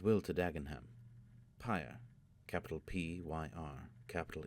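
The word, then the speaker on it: PyrE: no good it will to dagenham py capital P yr capital e pronounced py as in funeral py tell dagenham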